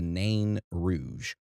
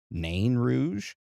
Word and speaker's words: Nain Rouge: There has been multiple different pronunciations of this crypted. I have watched so many news stations in Detroit pronounce this completely different. Some pronounce it nan rouge. Nan rouge. Non rouge. Nouge. Na. Yeah, just a bunch of different ways. So, we're just going to pronounce it na rouge.